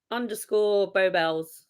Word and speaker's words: Beau Belles: So I'm _ Beau Bells. So Beau is spelled BEAU and Bells is BELLES.